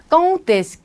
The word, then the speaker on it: Quand est-ce: Quand을 넣어주고 est-ce를 넣어줬는데 요 경우 요 Quand과 est-ce는 연음이 됩니다. 그런 경우 Quand est-ce 하면 안 되고 요 대는 연음할 때에는 무조건 때로 발음이 돼요. 그래서 Quand est-ce 하면 안 되고 Quand est-ce tu travailles?